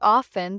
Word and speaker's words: often: In words like often, the T is often silent, and in no, the K is silent.